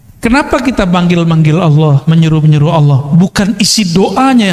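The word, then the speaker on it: الله: Dia melihat ada orang buang kaligrafi yang di situ tulisannya alif lam lam ha. Bacanya apa? Allah.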